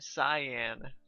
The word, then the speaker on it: Siam: I heard cyan. Oh. Yeah, like the color.